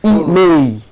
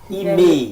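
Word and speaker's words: IMEI: Comment ça s'appelle? Email. Email. Email. Ça s'écrit I-M-E-I.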